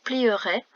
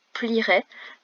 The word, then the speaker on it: plierait: On ne dit pas plierait, on dit plierait, mais le E s'écrit tout de même.